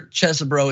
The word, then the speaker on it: Chesebro: And I'm sure Chesebro is the way to pronounce it, but anybody who decides to represent Trump, I'd like to pronounce his name Cheesy Bro going forward.